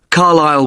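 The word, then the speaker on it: Carlisle: i s l e you don't pronounce the S Carlile way and that's in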